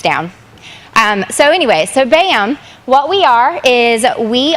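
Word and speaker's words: BACM: norris and we are bam which is spelt b-a-c-m the c is silent kind of like the k and knife so it's bam um we are pulling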